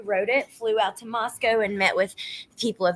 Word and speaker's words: Moscow: Outsiders pronounced it like Moscow, but locals said Moscow.